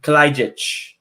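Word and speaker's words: Kalajdžić: And I'm going to name Sasha Kalajdzic for Kelly.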